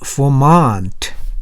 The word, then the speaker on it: Vermont: 저 발음 Vermont, T에 강세가 있어요.